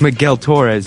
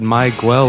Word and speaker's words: Miguel Torres: it's Miguel Torres right how do you pronounce it it's Miguel Torres you said mwel or something Ramy and Ray giving